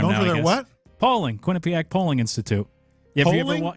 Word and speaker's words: Quinnipiac: I've been mispronouncing Quinnipiac University uh my entire life. I was familiar with it, but I always called it Quinnipiac, but it's Quinnipiac. Yeah, Quinnipiac.